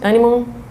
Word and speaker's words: anemone: So one example of symbiosis in nature is this relationship between the clownfish And sea anemone, is that how you pronounce it? Anemone?